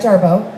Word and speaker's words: Jarboe: to my right uh jarva and i i'm always afraid i'm gonna say it wrong did i say it right jarvo yes but i'm a facebook